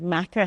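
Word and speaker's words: makar: I was a macker between 2016 and 2021. I love the term macker. It's spelled M-A-K-A-R.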